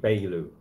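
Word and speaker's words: Beyoğlu: We don't pronounce the G. You don't pronounce the G. Beylu.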